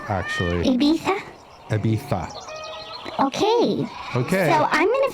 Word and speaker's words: Ibiza: oh but they're is there any Visa it's pronounced Ibiza actually Ibiza okay okay so I'm Gonna Fill Up that's